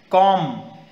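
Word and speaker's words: comb: B silent है काफ L silent new के silent कॉम यर B silent half L silent knit यर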